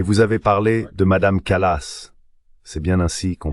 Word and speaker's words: Kallas: Et vous avez parlé de Madame Kallas. C'est bien ainsi qu'on prononce son nom. Kallas, oui, je crois.